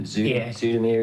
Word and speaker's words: Zoetermeer: In Holland, Zoetermeer, is it?